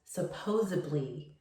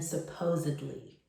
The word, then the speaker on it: supposedly: Oftentimes I hear people pronounce it as supposably, putting a B instead of the D. Remember, you always want to pronounce the D in supposedly.